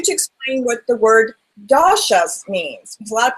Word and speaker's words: dosha: and for you to explain what the word dasas means because a lot of people have no clue that means and I probably didn't even say it right no you said it perfectly that it's called doas so that is the fundamental difference Carly between